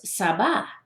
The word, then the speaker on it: Sabar: fell in love with, was Sabah, right? And it's spelled Sabar.